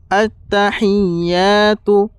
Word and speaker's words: التحيات: সর্বপ্রথমে হচ্ছে আত্তাহিয়াতু আত্তাহিয়াতু আত্তাহিয়াতু আত্তাহিয়াতু। হি এখানে বড় হা, এখানে যে আছে আত্তাহি হি এখানে বড় হা বের করবে, নাহলে আমাদের ভুল হয়ে যাবে, বড় ভুল হয়ে যাবে।